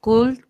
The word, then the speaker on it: could: If a woodchuck could chuck wood. Repeat after me. Could. Could. Yeah, very good. Remember, you don't have to pronounce the L.